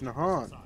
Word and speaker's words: Nahant: Oh, it's Nahant. That's how it's pronounced.